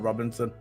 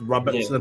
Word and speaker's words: Robertson: I thought Robinson. You know, like the drink Robinson. It's Robertson. Yeah.